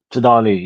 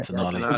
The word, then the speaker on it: Tonali: Tonali, yeah. Tonali.